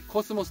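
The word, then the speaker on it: 秋桜: 秋桜と書いてコスモスと読むぐらい、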